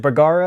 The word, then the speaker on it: Bergara: you're shooting some of these new as it burger is how you pronounce it yeah yeah some of the new